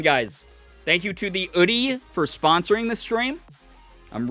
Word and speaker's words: Oodie: I will pronounce it oodie, like in oodie, like in Garfield, the fucking dog.